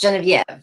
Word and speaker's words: Genevieve: your name properly yes my name is actually french canadian because i'm originally from quebec which is the french canadian province of the country so my name is actually pronounced genevieve jennifer okay thank you